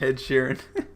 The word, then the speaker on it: Ed Sheeran: Ed Sheeran.